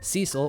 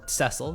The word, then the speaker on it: Cecil: of all time, Final Fantasy 4's main character, Cecil or Ceile if you want to pronounce it the correct way.